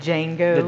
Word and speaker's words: Django: Quinton Tarantino movie called Django the D is silent but did django Django so Quentin Tarantino's